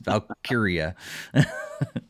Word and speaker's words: Valkyria: Well, I wanted to call it Valkyrie, but that's not what I was reading, so it's not how it's spelled. It's Valkyria.